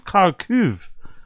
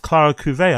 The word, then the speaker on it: Clara Cuvée: I think it's Clara Cuve. I had no idea her name is pronounced Clara Cuvée. I thought it was Clara Cuve. My bad. It's Clara Cuvée.